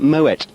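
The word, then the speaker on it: Moët: maui in actual fact you don't pronounce it murray you pronounce it moet because i've actually been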